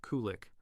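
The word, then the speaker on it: qulliq: The Inuit traditionally use seal oil lamps, called kulik, pronounced kulik, for both light and heat.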